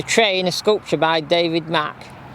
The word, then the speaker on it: Mach: is sculpture by David Mack it's it spelled like mac as the Ford Mustang on the Mach 1 Mustang it's the same spelling as that it's a bit of